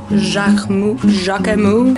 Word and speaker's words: Jacquemus: Yeah, so just simply hanging out in Jacquemus. Are we pronouncing the S? Moose.